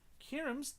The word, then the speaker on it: Kynim: Next one is Kynim's Diamond Nuzlock, Tales of SInnoh by Kynim. I can't pronounce it. It's Ky-nim.